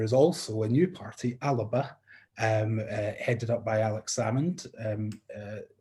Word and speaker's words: Alba: And I'm told it is Alba, so...